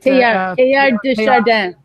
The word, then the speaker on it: Teilhard de Chardin: Another great example I like to use is Nora, you have to give me my correct pronunciation of Teilhard, right? Teilhard de Chardin.